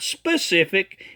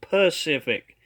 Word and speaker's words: Pacific: It's not specific, it's Pacific.